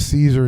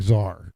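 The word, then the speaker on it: czar: If if she sees something, it was it was like me with Caesar instead like Zar, right?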